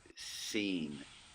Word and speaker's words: sin: And then the scene, as in scene in a movie. And it produces the S sound.